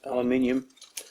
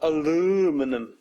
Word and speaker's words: aluminium: Bot this flimsy stuff, called aluminium. That's right aluminium, say it with me: A LU MI NI UM Not aluuuminum. That's how Urbanus would pronounce it.